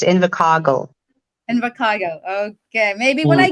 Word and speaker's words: Invercargill: Invercargill. Invercargill. Yeah, kasi yung R, kasi roll yung R sa South Island. That's why it's Invercargill.